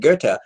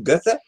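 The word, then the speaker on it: Goethe: somebody when I've used I've talked about Gerta but I've never heard the name pronounced and I called him goodthe and I got left upside the head on that you know and I never made that mistake ever again so but the the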